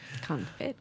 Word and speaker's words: confit: Oh, the it's goosinator confit. and the for it. Yeah, like I'm for it. I think it's a good thing. Confit. Confit. That's how you spell it. Anyway, You don't pronounce the T though.